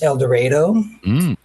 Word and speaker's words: El Dorado: Here in Kansas, we don't pronounce things the way everybody else does. It's El Dorado.